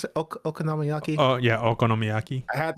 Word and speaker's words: okonomiyaki: How you pronounce it? Okonomiyaki.